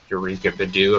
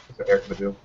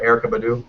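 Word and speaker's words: Erykah Badu: screen, including Tori Amos, Eureka Badu. I'm not sure if I pronounced that correctly. Erica Badu. What'd you say? I think that's right. Erica Badu. Erica Badu? Erica. I said Eureka.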